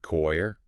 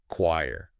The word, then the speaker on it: choir: I used to pronounce it choir. Oh, yeah, like with 2 syllables. Right. And then I saw it written phonetically, and it was like, oh, Oh, wow. it's just one syllable.